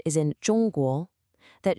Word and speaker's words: 中: It's not the J sound you hear in jungle. Listen again. 中, 中.